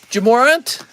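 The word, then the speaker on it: Ja Morant: regular shipping and print pronounced more ant jamorant oh it's pronounced jamoran that's cool that's cool i'll write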